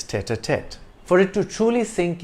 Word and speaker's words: tête-à-tête: The T is soft in French, tête-à-tête, but in English it's tête-à-tête.